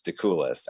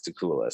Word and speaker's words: Dakoulas: know how to say my last name it's de coolest to coolest you're cooler so thank you i have a